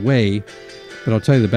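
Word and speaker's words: Wey: W-E-Y is how that's spelled, Way.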